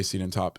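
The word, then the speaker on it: Siedentop: pronounce his last name I think it's Larry seeden toop uh um can we pause right all right resume we just paused and I checked it is Larry cenen toop inventing the individual um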